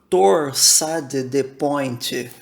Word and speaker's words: torsade de pointes: Parkinson Light No entanto se você fala francês prepare-se para sofrer enquanto ouve torsar de ponte ser pronunciada como torsade de pointes outras variações parecidas entre